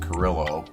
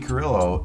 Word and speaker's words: Carrillo: from Cigar Aficionado about EP Carrillo, or if you're English and you want to pronounce it Carillo. But EP Carrillo put out a 3-count box set of mystery cigars.